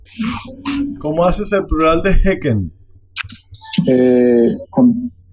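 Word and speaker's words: hekken: Y para que se mantenga el sonido Heck, se dice Hecken.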